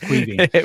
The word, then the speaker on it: Caoimhín: Like, that's Irish for Kevin. But call him, it's Caoimhín.